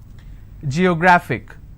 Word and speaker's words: geographic: a look at it Geographic how many syllables do I have G yo graphic and the rule says if I have a word ending with IC I need to stress on the second last syllable so I'll pronounce